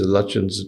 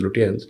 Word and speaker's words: Lutyens: So much of what happens now, I mean, for example, the phrase Lutyens Delhi, which sometimes deliberately, but mostly mistakenly mispronounced as Lutyens, is meant as a sort of attack not just on Delhi or on power.